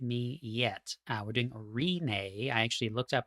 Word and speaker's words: Rinne: from what I understand it's r i n NE e it's like it's like Renee but with a long e at the beginning so conqueror is the